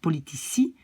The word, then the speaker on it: politici: Politicus, ça devient politici. Medicus, ça devient medici. Musicus, ça devient musici. Et vous voyez que donc quand il y a un i qui suit, je prononce ça comme S. Donc politici, medici, musici.